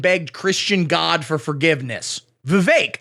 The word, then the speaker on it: Vivek: Christian God for forgiveness Vivek again rhymes with cake all candidates should do